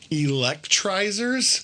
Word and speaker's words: Electrizers: Electrizers? Yes, like electric. Yeah. Only without the C, it's a Z.